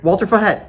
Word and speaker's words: Walter Fajet: I'm here with Walter Fet, uh, current councilman and, uh, candidate for mayor of Miami Springs. Walter, thank you for joining us. Thank you. How did you say my name there? Walter Fet.